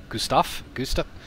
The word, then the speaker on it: Gustav: Gustav? How do I pronounce it? I say Gustav. G-U-S-T-A-V. Like it's spelled.